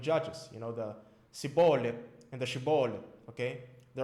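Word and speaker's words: שיבולת: Okay, I keep mispronouncing this word because most Hebrew words are milgha. Milgha means the stress is always on the last syllable. Okay, if there are any Israelis watching me or any Jewish people, correct me if I'm wrong. Okay, but milel is like penultimate stress. You put the stress before the last syllable.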